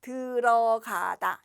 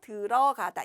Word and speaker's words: 들어가다: 자, 우선 들어가다라는 말은 발음은 이렇게 해요. 들어가다. 이 디귿이 빈자리로 어로 들어가서 들어가다 이렇게 발음을 하죠.